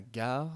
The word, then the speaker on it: gare: La gare, c'est avec la lettre G. Et qui se prononce G.